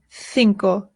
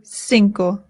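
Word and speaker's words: cinco: the C's in Spanish in Spain they say thinko in Latin America they say sinko both are correct whichever you prefer sinko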